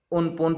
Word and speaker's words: Amphan: इसे थाईलैंड में उनपुन प्रोनाउंस भी किया जाता है।